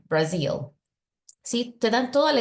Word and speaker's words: Brazil: Recuerda, muy importante pronunciar la Z como Z, Brazil.